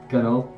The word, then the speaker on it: gunwale: crouch, kind of like hide under the side of the boat, gunwale, Gunnel. Close. It is spelled Gunwale, yeah.